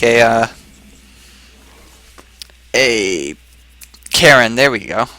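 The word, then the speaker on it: Cairne: He brings out something like a Karen. There we go. Rhymes with Baron, not quite Baron.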